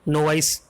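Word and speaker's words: novice: नोविस कह सकते हैं, नोवाइस, ठीक है। नोविस, नोवाइस जो भी है, ठीक है।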